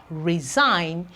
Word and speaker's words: resign: move on we have resign you can see that the G right there is silent we have campaign campaign